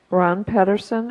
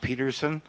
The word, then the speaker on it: Pedersen: Ron Pedersen, and on deck, Mark Bellato. It's pronounced Peterson. Ron Peterson, 1935 Harvest Lane.